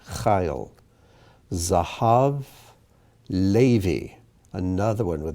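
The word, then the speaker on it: חיל: Yeled, Yachid, Tameh, Chayil, and that's another one with the accent on the first letter, Chayil.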